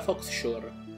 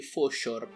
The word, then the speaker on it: Fauxshore: Da quello che ho letto dovrebbe chiamarsi Foshore, dato che la X non si legge in americano quando termina. O meglio, la parola faux si legge fo, nel senso tipo falso.